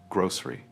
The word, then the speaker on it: grocery: First is grocery. In the UK, we often pronounce this quickly. Focus on the O sound, grocery.